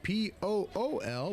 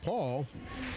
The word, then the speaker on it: Pool: 11 Paul renon renon who spells his name p o o l but is pronounced Paul boy that I butcher that earlier in the day calling him pool until somebody for metal